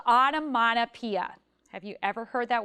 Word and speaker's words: onomatopoeia: So if we clap it, onomatopoeia, there's actually 6 syllables in that word.